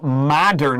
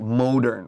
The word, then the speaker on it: modern: i hear lots of students say it wrong they say like modern right but this is a short o like unstoppable modern is the correct way to say this word that's right and also